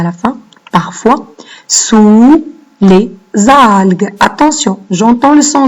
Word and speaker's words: algues: Et avec un GU. Hein, sinon, ça va se prononcer alge. Donc, faites attention en écrivant le son G. Les algues.